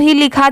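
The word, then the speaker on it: whole: एक ये भी दोनों ही लिखा जाता है। जैसे अगर कहीं पर यह लिखा रहा डब्ल्यू एच ओ एल ई तो इसे भी होल ही पढ़ा जाता है।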